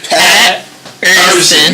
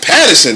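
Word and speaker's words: Paterson: It's Pat. And I'm like, yo, I know him like, word. I met him many times, and I'm still like messing up his name. It's like Pat's his first name, and Urson's his last name. Pat Urson. You see that drag in between? That's like that line. It's like Urson, baby. You gotta be able to pronounce it.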